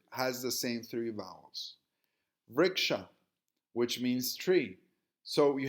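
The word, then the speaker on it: वृक्ष: Vriksha, which means tree. So you have the same three consonants, V, RK, and WRK. Remember, the V is pronounced as W in Sanskritam. Both are phonetically identical in Sanskritam.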